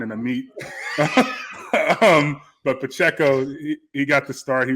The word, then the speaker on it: Pacheco: my notes I'm like I don't trust myself Pacheco but it's Pacheco man you know so it's a cross between like a wine and a meat um but Pacheco he got to start